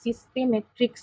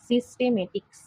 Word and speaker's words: সিস্টেমেটিক্স: উচ্চারণটা কিন্তু সিস্টেমেট্রিক্স নয়। সিস্টেমেটিক্স। অনেক সময় সিস্টেমেট্রিক্স হয়ে যায়।